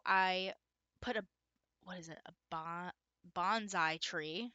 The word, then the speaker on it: bonsai: Bonsai tree. I mispronounced that in a video a few videos ago. It's a bonsai.